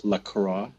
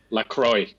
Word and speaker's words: La Croix: pronounce that right lra there are two ways of saying it many people who are fancy like to use the French way to go with lro and then there is the way that the American inventor says it as lacroy lacroy well just like we should follow the I guess the American lacroy because it is an American drink super American the most